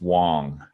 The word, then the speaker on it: Wang: It's spelled Wang, but it's pronounced Wong.